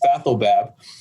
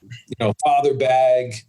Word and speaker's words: Fathelbab: Fathelbab. And there's been numerous others. Really, the last name is phonetic, so exactly how it looks is how it's pronounced, Fathelbab. But I've heard father, dad, father bag, Fathelbag.